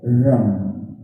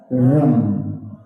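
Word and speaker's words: रं: मंत्र है वो है रम। कहें मेरे साथ, रम। यानी कि रॉ के ऊपर एक बिंदी जब हम उसका उच्चारण करते हैं तो कहलाता है रम। अंग्रेजी की बात करूं तो RAM, रम, रम।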